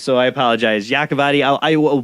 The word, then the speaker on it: Yacovetti: getting your name wrong how you say your last name it's yakavedi and and Tony has a version of it also I I I'm the king Butcher of names so I apologize yakovadi I will butchered all